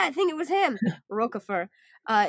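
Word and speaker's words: Roquefort: on the YouTube video we do not pronounce the T I was like cool French man I got you I won't say the T yeah I think it was him roer uh it's mentioned in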